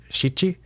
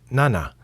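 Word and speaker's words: 七: eight is Hai and seven is one of the ones that has two different numbers I learned it first as shii but I've since been told that you might as well say nana and I think that's because shii means something else like suffering or something like that so maybe maybe there's a reason that you can say shii sometimes and six is Roku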